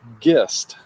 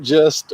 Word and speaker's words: Gist: So, last name is pronounced Gist. Not just or gist or geese or any of that stuff.